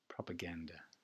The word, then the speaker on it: propaganda: Propaganda, upside down E, ganda, hard A sound, propaganda, upside down E at the end again, propaganda, propaganda, propaganda, ganda is where the hard stress is.